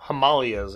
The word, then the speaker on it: Himalayas: Let's talk about the Himalayas, or the Himalayas, as it's pronounced in some locations around the world.